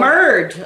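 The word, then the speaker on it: merde: Oh, merd. Okay. No, it's merd. That's not how I would pronounce it.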